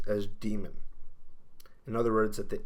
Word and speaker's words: Daemon: in English demon spelled D AE ignores that and it should always be pronounced as demon with Without Really exception